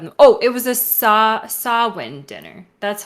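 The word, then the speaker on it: Samhain: very proud of them oh it was a sawwind dinner that's how you pronounce it thank you B soben okay yeah so that's what I have kind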